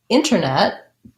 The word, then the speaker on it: internet: your question so internet i can say the t in this word internet with a pronounced realty released air but a lot of americans are going to say that with basically leaving that tea out internet internet what you